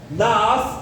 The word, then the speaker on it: Naás: Naás em hebraico significa serpente, né? A pronúncia é na parece até o Harry Potter falando língua das cobras, né?